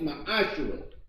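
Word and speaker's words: מעשר: Means tenth in the Hebrew and is pronounced ma'ashera.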